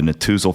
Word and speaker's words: Netusil: They are the Natuzel family. That is spelled, if you want to Google it, Netusil.